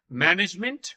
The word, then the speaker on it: management: But जहां पर G आता है, where the G is there, the pronunciation becomes a little different. It is management. Manage. AGE, जहां कहीं भी जिन भी words में आता है, it is pronounced as id.